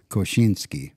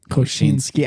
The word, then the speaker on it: Koscinski: So Koscinski. Koscinski.